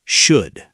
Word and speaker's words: should: Silent L, should.